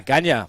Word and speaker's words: Ganya: it's what I do how do you say your name uh ganya people call me ganya that's my Aboriginal name but easy for